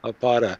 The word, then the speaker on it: Apata: our guest speaker, Samuel Apata. Is that the correct pronunciation of your last name? Close enough. Close enough. I'm going for the Spanish pronunciation there. The long A, Apata.